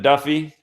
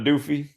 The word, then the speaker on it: Duffy: it's very interesting that you must pronounce the name Duffy aza Duffy instead of doofy yeah yeah yeah but